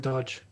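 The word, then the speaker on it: Doge: pronunciation of did you do you also call it dodge some people just call it doggy though i think that's i think that's very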